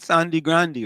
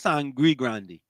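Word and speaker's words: Sangre Grande: Fishing Pond, Sandy Grande, right? That's right. Why people say Sandy Grande when it's Sangri Grande?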